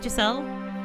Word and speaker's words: Giselle: Michelle and will you please call me Giselle it rhymes the windows what